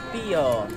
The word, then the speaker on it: Pijo: Hi, how do you pronounce the name? Pio. Pio. Kala namin Pio. Silent J.